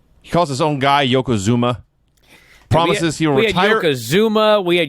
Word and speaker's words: Yokozuna: It is pronounced exactly like it's spelled. But no one could figure this out. Yokozuna, Yokozuno, up and down this show.